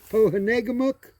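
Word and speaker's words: Pohénégamook: And then this is Lake Pohanegamuk is the pronunciation of it.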